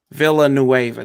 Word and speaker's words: Villanueva: He just he's been on the injury report, but Villanueva.